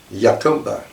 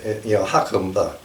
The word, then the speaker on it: Jacumba: there, and it's called Yacumba. And that's kind of curious as a name. Some people may think it's Spanish and pronounce it, Jacumba, but it's not Spanish. It's actually Arabic.